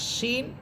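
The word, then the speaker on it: ش: আর শিন এটার আওয়াজটা অনেক বড় বিকট হবে, শিন জবর সা, সা।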